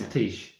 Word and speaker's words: Thijs: It's a Dutch name, so it's Thijs.